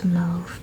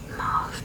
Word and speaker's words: mauve: It's just a very pretty, looks darker in the pan, almost like I know it's pronounced mauve, but I really like mauve better. But it looks kind of